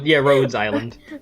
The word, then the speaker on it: Rhodes Island: Rhodes Island. It's like Rhode Island, but just with an S.